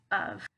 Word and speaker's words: of: Okay, so it's of. And then this one up here, we're gonna pronounce it with a ah.